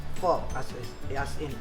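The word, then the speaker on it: phở: boil and then we're ready let's assemble our fault by the way uh it's spelled p h o but it's pronounced fall as is in f fuh so you call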